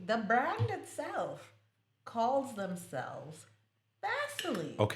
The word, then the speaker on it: Vaseline: It's spelled v a s e l i n e. Vas uh line No. Lit- literally, the brand itself calls themselves Vaseline.